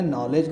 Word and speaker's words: knowledge: इसको क्या कहते हैं, नॉलेज कहते हैं। समझ में आ रहा ना, क्लियर हो गया होगा आपसे। इसमें के साइलेंट आपने बता दिया।